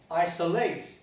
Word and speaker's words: isolate: So this is a neutralization of the vowel, which is very constant.